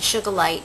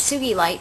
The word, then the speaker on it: sugilite: crystal blessings today I wanted to talk about sugilite and sometimes people pronounce it sugar light but it's sube light because it's named after the scientist who found it dr. Tsuji and who first discovered